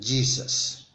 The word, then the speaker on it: Jesus: En español es Jesús, en inglés es Jesus, ¿sí? Como si fuera la pronunciación de una Y al principio.